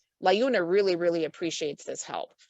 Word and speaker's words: Liuna: Well, I just noticed in the chat that apparently Liuna is pronounced Liuna.